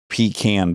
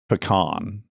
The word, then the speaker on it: pecan: So I will say pecan pie. Yeah, that's how you say. But I say pecan. Your natural is pecan. In Detroit is pecan.